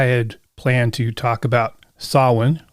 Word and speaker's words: Samhain: planned to talk about sawin which most people incorrectly pronounced as samhain and the genesis of